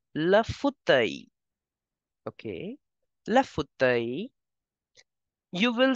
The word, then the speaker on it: fauteuil: Okay, the L in the end is for decoration. You will simply pronounce it as le fauteuil.